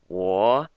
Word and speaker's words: 我: And this isn't like whoa, it's like 我, and that's how you give it the correct sound for the pronunciation.